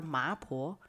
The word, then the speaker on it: 麻婆: mrs chen had some pork marks on her face which in chinese it is pronunciated ma and older women are oftentimes called poor so the customers at that time began to call her maapo the elder lady with